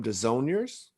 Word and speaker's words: Desaulniers: This week we have Jim Desaulniers here with us from Indiana Diecast Racing.